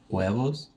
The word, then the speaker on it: huevos: The H is silent. 102 huevos.